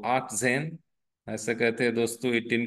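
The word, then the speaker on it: achtzehn: बोलते आ और 10 को बोलते जन सो आ जन ऐसे कहते दोस्तों 18 को 18 को कहते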